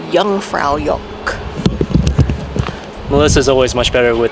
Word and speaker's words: Jungfraujoch: No, J's are pronounced as Y's and W's are pronounced as V's, so Jungfraujoch.